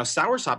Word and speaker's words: soursop: Now, soursop is spelled like sour, S-O-U-R-S-O-P, soursop.